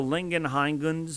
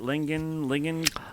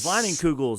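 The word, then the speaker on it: Leinenkugel's: I have a Lingenheingens. How do you say it? Leinenkugels. Leinenkugels.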